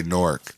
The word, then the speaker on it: Newark: just like you gotta say Newark no n-o-r-k yeah no that's the name of the place it's not newer it's not Newark it's not that's in Delaware